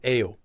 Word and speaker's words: 예요: It should be ko 예요. Although it is pronounced as 에요.